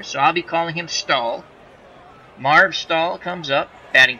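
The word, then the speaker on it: Staehle: in the plate Marg I believe his name's pronounced all sta eh le I think the H is silent I'm not quite sure so I'll be calling him stall Marv stall comes up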